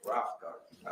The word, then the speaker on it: Rothengarten: Pronounce it for me. Rough Garden. Rothengarten.